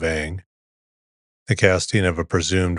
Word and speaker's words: Aang: series The Last Airbender his name in the film is pronounced on instead of Ang the casting of a